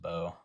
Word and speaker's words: Bo: You're kind of saying it wrong though. It's just Bo.